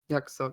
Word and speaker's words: Yakusoku: New album, Yakusoku. I almost mispronounced that. even though it's Yakusoku.